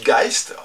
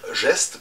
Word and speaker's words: Geist: maintenant vous savez aussi pourquoi je dis guys prononciation allemande au lieu de dire geste puisqu'en français en direct